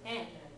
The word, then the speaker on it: Yen: a yeah sound otherwise why the heck would they have spelled Yen with a Y right because Japanese pronounces it n right but um maybe